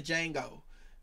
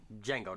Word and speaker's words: Django: i got the django because if you don't pronounce that d they not going to see you you